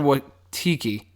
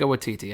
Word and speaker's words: Waititi: Is it Waititi or Watiki? Is it Waititi? Titi. Okay, with Taika Waititi. Okay. I can never pronounce it correctly.